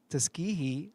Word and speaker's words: Tuskegee: According to Tuskegee, excuse me, I'm not used to that word, airmen, Tuskegee, I said it right?